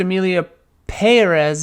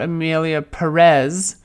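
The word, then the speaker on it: Emilia Pérez: to sound mean but it's pronounced Amelia pz not Amelia Perez I hate the movie but that's the correct pronunciation yeah I'm saying it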